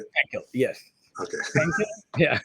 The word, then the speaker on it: Pankil: Pankil, yes. Okay. Pankil? Yeah, it's okay. I want to pronounce it correctly for you. My professors used to call me Painkill.